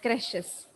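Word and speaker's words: crèche: Caregiver in daycares and creches. Teacher in nursery schools. Caregiver in daycare and creches. CRECHES. Okay. Pronunciation is creche, but the spelling is different.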